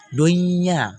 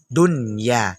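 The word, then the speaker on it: دنيا: Jangan nanti dibaca kayak baca idgham, salah. Dunya, salah. Yang betul dunya, dunya.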